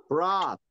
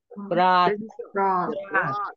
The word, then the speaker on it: brought: 발음 여러분 어려울 거예요. 근데 이게 뭐냐면 오가 아니고요. 아도 아닌 중간이라 그래요. 우리 보통 할 때 다른 교도 보면 그래서 brought이라고 발음하는데 아도 아니고 오도 하고 중간이에요, 그냥. 그래서 여러분들은 어떻게 발음을 하시는 게 가장 좋냐면요. 오라고 입술 모양을 하면서 아로 발음을 해보세요. 한번. 그럼 brought 이렇게 될 거예요. 브라. 이렇게. 예, 입술 모양은 오로 하고 아를 생각하시면 돼요.